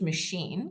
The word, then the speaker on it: machine: And when it comes from a Romance language, machine comes from French, which is a Romance language, we tend to say the CH sh.